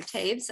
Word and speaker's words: Toews: We had a conversation before everybody got here about whether it should be Toews or Taves.